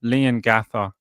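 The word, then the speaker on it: Leongatha: You say it like Liam Ga like lean but lean but with an N with no M. Right. Instead, it's like Lean with an N instead of an M. Lean Gather.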